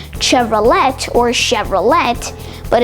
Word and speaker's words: Chevrolet: Next, we have the General Motors owned Chevrolet. You might be expecting it to be pronounced Chevrolet or Chevrolet, but it's actually pronounced Chevrolet.